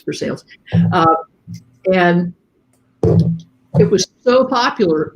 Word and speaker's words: Versailles: And it is pronounced Versailles in Kentucky. It looks like Versailles if you speak French. But yeah, it's Versailles.